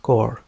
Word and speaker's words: Corps: قالت قوات الحرس الثوري الإيراني هنا كور تنطق كور تعني فيلق فيلق بالإنجليزية a main subdivision of an armed force in the field consisting of two or more divisions.